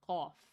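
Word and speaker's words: ق: instead of one dot this one is called cough guttural Q I would call it cough cough sometimes when pronouncing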